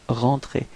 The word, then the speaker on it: rentrée: okay, but then rentrée, you can see that you don't pronounce this final e, it's rentrée.